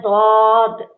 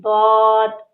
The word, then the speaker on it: ضاد: ضاد ये होता है दौद। स्वाद जौद कुछ नहीं, दौद।